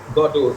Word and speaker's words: Godot: would be godo godot the second syllable would be accented nevertheless uh you know